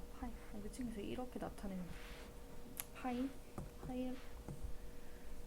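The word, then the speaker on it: π: 기호 얘를 뭐라고 읽는다? 파이라고 읽어. 파이.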